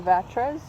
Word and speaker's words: Vatres: the artist i have with me is anna vatras did i say your last name right fish